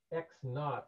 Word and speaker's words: x naught: becomes what we call x naught is the way we pronounce that um as in naughty that's kind of a